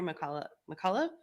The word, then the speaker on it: McCullough: Peter McCullough. Yeah. Right? That's how you pronounce it.